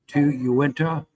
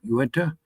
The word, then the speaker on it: Uinta: Pete, Sevier, Summit, T, Tool, Uinta, and I think I'm pronouncing that correct, Uinta, Utah, Wasatch, Washington, Wayne, and Weber.